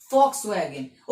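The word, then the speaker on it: Volkswagen: ठीक है, ऐसे ही एक है कंपनी फॉक्सवैगन, ठीक, कार ब्रांड है, वो भी जर्मनी की है, तो वो भी वी से स्टार्ट हो रहा है, पर हम उसे क्या प्रोनाउंस कर रहे हैं? एफ से, फॉक्सवैगन।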